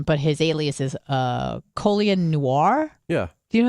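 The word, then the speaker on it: Colion: colin it's like but it's not spelled colin i know but i said he pronounces it calling yeah so he was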